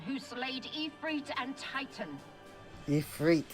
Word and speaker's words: Ifrit: Ifrit is how they say it.